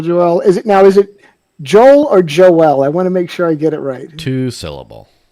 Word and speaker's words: Joel: Is it Joel or Joel? I want to make sure I get it right. Two syllable, four Joel, letter, got it.